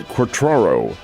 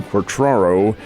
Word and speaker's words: Quatraro: His name is Matt Quatraro. It's a rather unusual spelling and pronunciation of the name Quatraro.